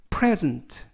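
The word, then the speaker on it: present: 있는 이에 강세가 붙습니다 즉 선물이라는 명사로 쓰이면 발음이 프레즌트 프레즌트 라고 읽으시고 동사로 선물이나 상 이런 것들을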